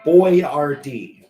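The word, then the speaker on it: Boyardee: if it was like a uh how to pronounce it, which is Boy Rard, which is if you're trying to look at the actual name is trying to figure out it's properly pronounced.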